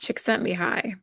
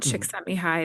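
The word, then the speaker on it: Csikszentmihalyi: I think that it's pronounced chick sent me high.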